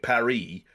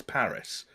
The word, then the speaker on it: Paris: close we are but if you walk around London Calling it parie people are going to give you a slap it's Paris you know like so